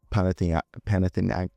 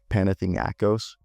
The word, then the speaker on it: Panathinaikos: He's a 6'8", 212 tall guard who can also play the point wing, who is on loan from Panathinaikos. I just butchered that. Panathinaikos. And he was born in Athens, Greece.